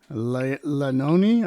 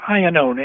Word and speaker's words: Iannone: Well, the cast listing on this particular one that we're going to hear says Gloria Gordon, Patricia Lanoni. I don't know how you pronounce that, but... It's actually Iannone, and she was the Iannone.